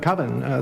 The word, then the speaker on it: Coven: Coven, that's the proper pronunciation. No, coven sounds like oven, man, and that's just, it doesn't work.